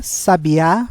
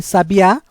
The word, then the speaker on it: sabiá: nós vamos verificar que na primeira palavra sábia o som mais aberto a sílaba tônica é no sa enquanto em sabiá a sílaba tônica é no último a sabiá enquanto a palavra